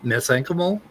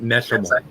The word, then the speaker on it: mesenchymal: You can understand it if somebody sounds something out wrong, like cysteine and cysteine, but mesenchymal is not meshimal.